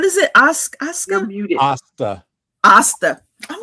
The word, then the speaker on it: Asta: James, how do you pronounce? I keep saying it. Asuka. Isekai. No. James said I would not like it. What is it? Asuka? You're muted. Asta.